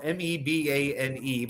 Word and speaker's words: Mebane: It's spelled Mebane, but they pronounce it Mebane.